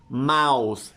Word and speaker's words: mouse: for example the word Mouse how many sounds does it have hmm Mouse three sounds plus the e is silent silent letters do not